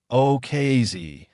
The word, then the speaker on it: ukase: The word ukase pronounced okay with the emphasis on the final syllable originally meant a simple instruction or order in a Russian context.